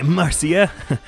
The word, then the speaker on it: Marcia: Obviously, there's just the phonetics of it translating it, but the fact that it's Masha and not Mashia suggests to me that it's probably pronounced Marcia in English, meant to be.